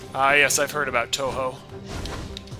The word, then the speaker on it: Touhou: yes i've heard about touhou which i always want to pronounce as tahu but i know that's a bionicle so a positive point